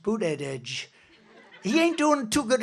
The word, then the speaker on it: Buttigieg: And they said, Edge, the word edge. That's the way it's pronounced, Buttigieg.